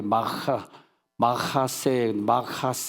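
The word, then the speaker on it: מחסה: CH, 영어로 CH 발음을 갖다가 그러면서 이제 강한 발음하는데 마하세 시작 마하세 다시 한번 시작 마하세.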